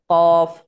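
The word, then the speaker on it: قاف: মানে গোড়াটা ওপরের তালুর সাথে লাগিয়ে বলবেন কফ, কফ, কফ।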